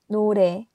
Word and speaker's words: 노래: O is a vowel and sounds like O, but it's not no, it's no. So now repeat after me, 노래.